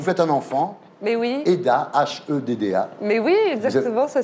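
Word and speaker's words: Hedda: Eda, H-E-D-D-A. Mais oui, exactement, ça voilà, s'écrit comme nom, ça.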